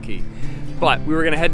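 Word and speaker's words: Cay: gonna head to tilu K trying to transition into saying it that way it's spelled c-a-y but it's pronounced key but we were gonna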